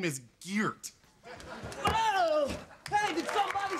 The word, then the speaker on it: Geert: Actually, it's pronounced Geert. Feert. Geert. Geert. Geert. Geert. I'll never get the hang of that.